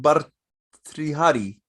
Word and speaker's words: Bhartrihari: But her, Bharatrisha. this guy? Yeah. Yeah. Are you speaking of the Hari, king in the text? but Bhartrihari, who was once Yeah, a king, Ratihari.